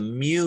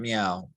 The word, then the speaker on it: mu: This is one, the mu here. It's spelled MU or mu. Try that again. Mu, not meow, mu.